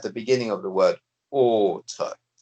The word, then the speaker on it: autre: Now, this pronunciation at the beginning of the word autre. So AU together gives you what sound? Oh. Oh.